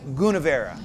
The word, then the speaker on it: Gunnevera: nice man, and he taught us how to pronounce the name, and it's Gunnevera.